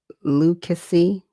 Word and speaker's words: Lucasy: I was having problem with the uh Lucasy family and Spud was just letting me know that's how it's pronounced. Thank you. Cuz I was like, huh? Is it a ch? We got a hard K.